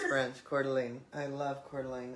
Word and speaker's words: Coeur d'Alene: I cannot pronounce the name, it's in French. Coeur d'Alene. I don't know. Coeur d'Alene. Thank you. I knew right away when you said it's French. Coeur d'Alene.